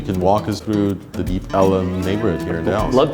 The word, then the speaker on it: Deep Ellum: So it was originally Deep Elm, and the early residents pronounced it Deep Ellum. So that was done for a number of years, took on a life of its own, and then this area was just officially renamed Deep Ellum.